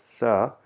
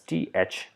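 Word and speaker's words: ث: pronounce it as sa in Urdu, and there's a little bit of emphasis, a little bit of practice that we need to do in order to pronounce this letter. Though this is written as THAA, Tha, right? But this is not Tha.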